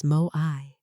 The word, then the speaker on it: moai: The fifth thing, moai, pronounced as moai, meaning a group of lifelong companions, not just casual friends. People you share resources with, support, and hold accountable. In Okinawa, children are placed into moai groups from a very young age.